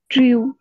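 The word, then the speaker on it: drew: দৃষ্টি আকর্ষণ করেছেন বলো ডি আর ই ডব্লিউ উচ্চারণ কি ড্রিউ ড্রই ড্র ড্র এটা ড্রিউ না ওকে ড্র তারপরে কি ইয়ে করছেন কোশ্চেন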